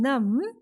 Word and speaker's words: numb: So B in climb, B in dumb, B in calm, and B in numb. Everywhere B is silent.